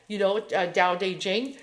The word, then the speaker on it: Tao Te Ching: Tao Te Ching. Yeah, it's pronounced like that.